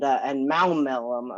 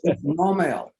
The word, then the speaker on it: Maumelle: West Little Rock and Maumelle. Am I pronouncing that right? Maumelle? Yeah. No, you butchered it pretty good. Okay, why didn't you correct me? It's Maumelle. Maumelle.